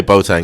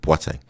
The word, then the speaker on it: Boateng: Yeah, Boateng. But people say Boateng is fine. But it's actually, you know, Ghanaian, West African, Boateng.